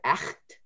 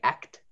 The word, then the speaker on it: echt: And then, so for example, the word echt, that's something, echt, it's weird. You can't do it with a dry throat though.